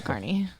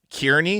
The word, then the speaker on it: Kearney: Because that's always what I think of when I say Carney. Yeah, because I didn't even say. I was saying Kearney because I hadn't heard of this place. I was like, "Oh, you're from Kearney." She's like, "It's pronounced Kearney." I'm like, "Oh, Like you've a lived in Carney.